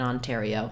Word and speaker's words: Ontario: Ontario time for example letters a r say the air diphthong in Ontario so um even though it looks like it could be pronounced as R Ario in this case it's air Ario tario letter I says e and again our last o says a true o sound so putting it all